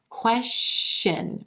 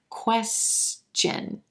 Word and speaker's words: question: with the word question it was coming out question with the continuous sh sh you want to make sure that it's a ch ch sound at the beginning of the second syllable in this word question you want to stop the air and then release it so that it sounds like chin chin question question so